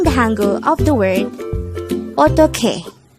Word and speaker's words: 어떡해: Eotteokhae. Eotteokhae. This is pronounced as a 3-syllable word. The first syllable is O, the second syllable is tok, the third syllable is he. Pronounce it with me. Eotteokhae.